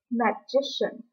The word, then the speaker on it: magician: But another word, magician, the stress shifts to the second syllable, J.